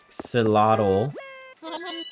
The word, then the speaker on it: axolotl: Actually, Ali Axolotl, welcome in. I'm pretty sure that X in axolotl is not supposed to be pronounced like an X. I think it's supposed to be pronounced like a different way.